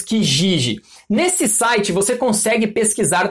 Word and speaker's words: Kijiji: Existe um site muito conhecido no Canadá que nós pronunciamos Kijiji.